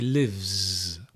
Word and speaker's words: lives: When you add the S is pronounced z. The voiced continues. The voiced sound moves into the next consonant. He lives. He lives. She loves. He runs. Can you hear? It's a z sound because it's voiced.